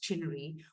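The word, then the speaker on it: CHNRI: The acronym is pronounced CHINRI, which was developed about 20 years ago.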